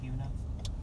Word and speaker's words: Buena: It's spelled Buena, but it's called Buena.